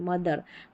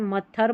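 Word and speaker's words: mother: मथ नहीं बोल रहे मदर तो थोड़ा सा आपको देखना है मत्थर बनेगा या मदर बनेगा तो आपने पहचान लिया कि मदर सही उच्चारण है तो टी एच का द यहां पर उच्चारण है टी आई ओ एन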